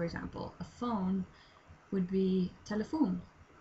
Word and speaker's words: telefon: A phone would be telefon. So it's telephone, except pronounced differently, written a bit differently. Telefon. That's how we pronounce it.